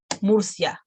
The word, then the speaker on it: Murcia: It's one syllable only. It's not two of them. It's Murcia. No, Rioja.